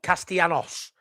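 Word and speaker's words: Castellanos: Formula prog let's not say that my mate Duncan Hamilton evening mad a double ll in Spanish is pronounced like why so it's castanos there you go I'll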